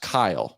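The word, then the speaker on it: Qayl: good work everybody um it's pronounced Kyle but it's spelled q a y l q i kind of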